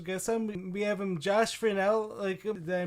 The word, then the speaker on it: Furnell: We have Josh Furnell. Did I pronounce that right? Yeah. Josh Furnell.